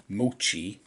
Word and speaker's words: Moochie: of 300 all right thanks to Google I figured out that you pronounce his name Moochie here we've got mochi